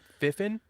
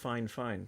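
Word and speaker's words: Fifine: Fiffin? Yeah, it's pronounced fine, sir. No. Yeah. They said that to me on the email, and I was like, really? But yeah, that's how they want it pronounced.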